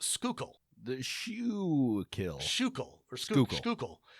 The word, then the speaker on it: Schuylkill: All right, the other one, so this word is spelled Schuykill, and it's pronounced Schuylkill. The Schuylkill. Schuylkill, or Schuylkill. The OO is pronounced like you would with food or ooze, so Schuylkill.